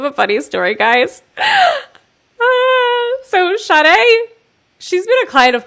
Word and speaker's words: Shadé: And finally, I think you Facebook messaged me and you were like, by the way, the way you pronounce my name is Shadé.